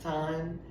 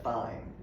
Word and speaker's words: thyme: And then thyme. In Jamaica it's pronounced thyme. In America, thyme.